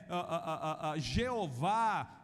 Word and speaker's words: Jeová: Alguns hoje pronunciam como Iavé, Jeová, mas da bem da verdade, nós não temos mais a pronúncia deste nome.